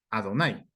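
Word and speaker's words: Adonai: traducido como adonay realmente no es que se pronuncie adonay sino que el pueblo judío cuando ve el nombre del eterno pronuncia adonay Por qué Porque el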